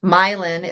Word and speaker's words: Milan: War I it was patriotic to change the pronunciation so milin is next to uh Berlin which used to